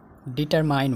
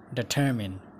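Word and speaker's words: determine: डिटर्मिन, डिटर्माइन होइन डिटर्मिन, डिटर्मिन।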